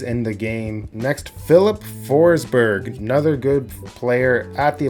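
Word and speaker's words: Forsberg: Next, Philip Forsber, another good player at the Olympics. Philip Forsberry, I think it's more of the Swedish pronunciation.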